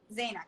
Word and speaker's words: Zaina: You pronounce it Zaina? Zaina, correct. Amazing.